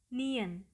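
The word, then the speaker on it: 니은: So, the sound is "geu", "geu", "geu" Second Korean Consonant is called Ni-Eun".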